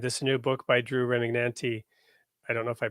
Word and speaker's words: Remignanti: new book by Drew Remignanti. I don't know if I pronounced your name Yeah, correctly. yeah, the guy in the videos had it wrong, but Remignanti. It's kind of like lasagna and Chianti.